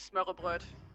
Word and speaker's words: smørrebrød: Like, the only Danish word I can pronounce is smørrebrød. But... Smørrebrød?